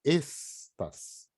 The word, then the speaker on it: estas: Tem que falar estas. É um S sibilante.